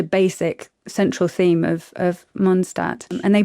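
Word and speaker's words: Mondstadt: I don't know what it's called because it's such a basic central theme of of Monstat and they pronounce it Monstat and that makes me happy.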